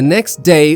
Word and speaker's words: next: In natural American pronunciation, the T in next often drops because it sits between two consonants.